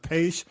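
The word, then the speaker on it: Paich: The musicians, the guy, I mean, the Toto guy, I think his last name is pronounced Paish.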